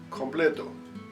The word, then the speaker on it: completo: When the letter C is in front of the vowel O, also sounds like the English K. Co, co, completo, complete.